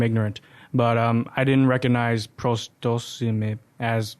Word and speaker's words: Prosdocimi: But I didn't recognize Prosdocimi as like a very, say, Latin name or. It's actually Italian. Oh, okay. Okay. Yeah. So my mother's father and grandfather were Italian. It's actually pronounced Prosdocimi.